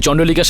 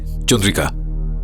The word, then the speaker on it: চন্দ্রিকা: এনেকে নিয়ে যাও, আর ওই চন্ডলিকার সাথে দেখা করাও। নামটা উচ্চারণ করতে আপনার একটু ভুল হচ্ছে, চন্ডালিকা নয়, চন্দ্রিকা। চলুন স্যার, যান।